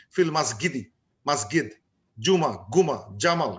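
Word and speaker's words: جمال: So they will, যেমন ইজিপশিয়ানে ওরা জিম উচ্চারণ করতে পারে না, জিম, তারা জিম হয়ে যায় জি গ হয়ে যায়। যেমন ফিল মাসজিদি, ফিল মাসগিদি, মাসগিদ, জুমা, গুমা, জামাল, গামাল, তো ওরা জিম উচ্চারণ করতে পারে না।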